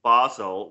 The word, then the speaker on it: Basel: she brings that on to the stage in Basel which I have now learned is the way to pronounce the city it is if she brings